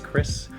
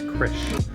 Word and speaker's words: Krish: It's not Chris, it's Krish.